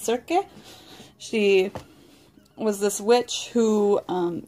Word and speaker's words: Circe: I believe her name is pronounced Circe.